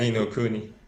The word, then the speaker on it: Ni no Kuni: Ni no Kuni? You're right. Yeah. Yeah. Okay. Ni no Kuni.